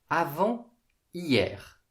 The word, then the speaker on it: avant-hier: Avant hier. On peut aussi prononcer avant-hier. Avant-hier, avant-hier.